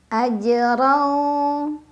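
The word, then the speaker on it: أجرًا: Ajrau. Ra dibaca secara tafkhim karena ra berbaris fathah tanwin, jadi bacanya tebal. Tebal itu artinya pangkal lidah kita naik.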